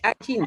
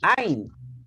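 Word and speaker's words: עין: No es Ayin, es Ain.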